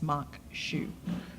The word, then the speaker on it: maque choux: hmm what does that mean or try to pronounce it so for all you people out there in TV land it's maque choux and again at that moment it's they're engaged